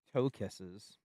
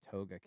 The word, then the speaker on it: toe kiss: toe kisses. I'm pretty sure nobody pronounces it toga kiss because that would be weird. So it's definitely just toe kiss.